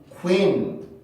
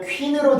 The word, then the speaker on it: queen: W하고 I라는 발음 기호가 두 개가 붙어 있을 때는 학생들이 보통은 위라고 발음하는 경우가 많은데 지금 제가 발음을 해드릴 테니까 위로 들리는지 한번 보세요. 봅시다. Queen, Queen, Queen, Queen, Queen, Queen, Queen, Queen, Queen.